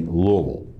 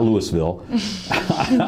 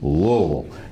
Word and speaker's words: Louisville: from that would be Louisville uh not louville but Louisville you just forget the S okay it's Louisville I